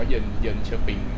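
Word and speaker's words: Jönköping: เยอ เยอ เชอปิง นะ มัน อ่าน ว่า เยิน เยิน เชอปิง ตัว เจมส์ จะ อา เป็น ตัว เป็น ตัว ไว เป็น ยอย ยักษ์ อ่ะ เจ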